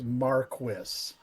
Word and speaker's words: Marquis: Please pronounce it That's- properly, Storm. It's Marquis.